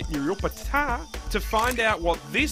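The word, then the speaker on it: Nuriootpa: So we headed to Maggie's farm shop in Nuriupta, or as the locals say, Nuriupta, to find out what this South Aussie girl loves about SA.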